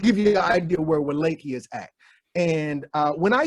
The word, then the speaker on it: Wallachia: Don't nobody know about no Wallachia. Come on. But no, the W is pronounced V.